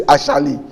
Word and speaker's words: Asali: So if it is Asali, you say Ashali, even within Ga.